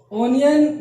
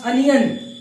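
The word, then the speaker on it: onion: ओनियन नहीं, गलत pronounce कर रहे हैं आप। इसका करेक्ट प्रोनाउंसिएशन होगा अनियन। इट्स अनियन, नॉट ओनियन, ये बता चुका हूं मैं, ठीक है।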